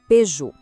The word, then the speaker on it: Peugeot: Mas o jeito certo é Peugeot.